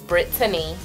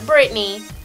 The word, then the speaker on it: Brittany: up and it goes the way you actually pronounce my name is Brittany not Britney Brittany I almost drowned in